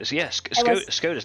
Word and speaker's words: Skoda: Yeah, but like Skodas now are good. I was confused what it was when you pronounced that. Because in German, we also have that over here, but in German we say Skoda.